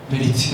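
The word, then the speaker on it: ברית: 알아야 돼요 언약이 뭐냐면 히브리어로 리트 발음을 들어보니 거의 베 그니까 배와 버의 사이 한번 해 봐요 베리트 해 봐요 시작 와우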